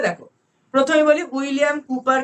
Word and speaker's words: Cowper: डब्ल्यू पी ई आर ए माने किु काऊपर न है ए के बोल दिया काऊपर को काऊ भाबे एटा कूपर प्रोनाउंसिएशन की कूपर विलियम कूपर ठीक है ए बार